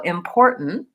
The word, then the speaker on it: important: has its own sound so important important the stress is on this middle syllable and the ending is what's tricky for a lot of people so you can say important or important and say that T with a puff of